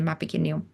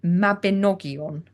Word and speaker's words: Mabinogion: Welsh triads and the Mabaginon or No, it's not the Mabaginon, is it? See, I'm still pronouncing it wrong. I'm not Welsh. It's the Mabinogion.